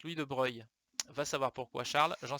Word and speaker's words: Louis de Broglie: Alors Louis de Broglie, ça se prononce Louis de Broglie.